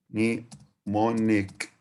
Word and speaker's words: mnemonic: can't remember without a mnemonic. Bravo. So mnemonic, bravo, has the M silent at the beginning of it, and the C at the end of it pronounced as K sound, like K letter.